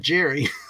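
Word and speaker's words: Gerroy: Sean Jerry Patrick Cassell spelled g-e-r-r-o-y but it's pronounced Jerry and that pissed my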